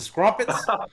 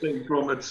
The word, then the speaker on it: crumpets: Is it scrumpets? Crumpets. Is it crumpets or scrumpets? Crumpets. Oh, I've been saying it wrong my whole life.